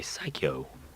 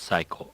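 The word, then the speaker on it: Psikyo: that it's a bi psycho or psycho however you want to pronounce that pretty sure it's cycle because that's how you pronounce it in Japanese anyways go check that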